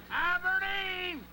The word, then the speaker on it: Aberdeen: Aberdeen! And let me say it again, Aberdeen. I've been mispronouncing it for about 2 years.